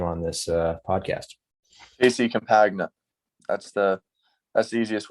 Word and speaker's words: JC Campagna: your everyone's last name on this uh podcast JY cagna that's the that's the easiest way Campagna cagna